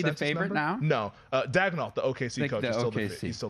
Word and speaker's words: Daigneault: Daigneault, the OKC coach, he's still the favorite. If the guy was coaching in hockey, it'd be Daigneault, but it's Daigneault in the NBA. He says it's Daigneault.